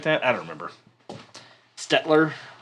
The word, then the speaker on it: Staedtler: that i don't remember stetler statler it's spelled not like it's spelled not like you would think oh boy you guys